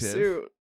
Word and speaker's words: hirsute: Hirsute. Yeah. It means hairy or covered in coarse, stiff hairs, like a fursuit. Bear or a fursuit. I'm just saying, it should just say fursuit. Whoa, it rhymes.